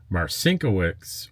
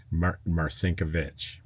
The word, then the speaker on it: Marcinkiewicz: It's pronounced Marcinkiewicz, or old world pronunciations, Marcinkiewicz.